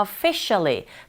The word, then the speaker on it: officially: 그 부분 을 놓치지 않고 발음 연습 을 해야 합니다 . "before I" 에는 강세가 없으므로 " officially" 의 "fi" 에 강세 를 두세요 .